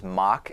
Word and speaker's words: Mauch: Loy, I believe the way his last name is pronounced is Mauch.